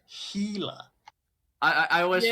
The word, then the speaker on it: Gila: sir what well how how do you pronounce gila then wingnut gila rather than either way you're also it's a healer i i always like